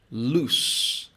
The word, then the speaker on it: loose: The first one is loose. Loose. So you have a s sound at the end.